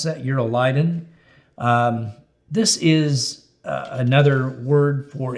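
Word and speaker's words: Euroclydon: Verse 14, not long after, a tempestuous headwind arose called Eurolydon, is how you pronounce that, Eurolydon.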